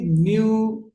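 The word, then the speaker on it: knew: He talks as ইফ হি নিউ everything, নিউ আমরা বলি আসলে উচ্চারণটা নু হবে।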